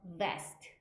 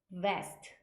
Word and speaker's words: vest: 아니면 생명 이런 뜻이고 V 하면 vest vest 이렇게 입술 물어 주셔서 발음 하셔야 되죠 그래서 life vest 하면